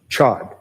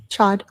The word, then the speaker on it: Chad: Um, you mentioned a name of um, Jeff Chod. I probably said that last name wrong. Chad.